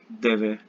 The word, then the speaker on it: deve: Deve. Deve. Deve. Deve. Yeah, like pronounced like more faster, like deve.